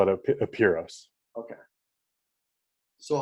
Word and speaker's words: Apiros: he said in greek it would probably be pronounced operos but i call it a puros okay so how would someone go about you